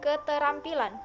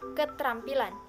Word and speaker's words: keterampilan: tohnya yaitu yang pertama kata keterampilan diucapkan keterampilan bukan ketrampilan yang kedua kata Apotek